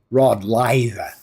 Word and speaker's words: Rod Laver: And to pronounce his name correctly in Australian, you would say Rod Laver.